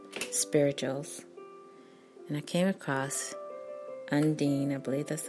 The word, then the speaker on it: Undine: more about her and I'll spell the first name you in di any and believe you pronounce it and Dean and she was born